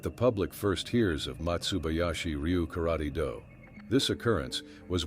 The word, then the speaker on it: Matsubayashi: Matsubayashi is the Okinawan pronunciation of the characters for pine forest.